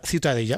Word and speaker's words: Ciutadella: ¿Cómo se pronuncia? La Ciutadella. Ciutadella.